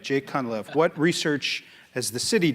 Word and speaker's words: Cunliffe: Jake, am I pronouncing the last name correctly? Yes. All right, Jake Cunliffe.